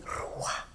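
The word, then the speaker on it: רוח: infundió su espíritu, y en hebreo el espíritu es ruah, se dice ruah, ¿ve? Y este ruah que pronuncian como tal es el mismo sonido de las palomas.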